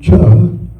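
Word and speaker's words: Chih: It's pronounced cha but it's spelled ch h ih.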